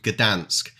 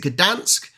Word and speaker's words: Gdańsk: She's got a Polish friend at work who actually says it's just Dansk. You don't pronounce the G. Can you guys confirm that, please? Is it Gdansk or is it Dansk?